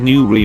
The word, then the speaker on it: Newry: Newry Station, pronounced Newry, means new place in Welsh.